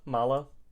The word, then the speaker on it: Mallow: Malo. I say I say like marshmallow. Malo. Malo.